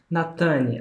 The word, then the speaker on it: Natane: Natane, acertei a pronúncia do seu nome? Acertou.